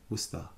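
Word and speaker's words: Worcester: tell you one more the last one is wester Wester guys can you guess how it's pronounced it's pronounced wer let's go to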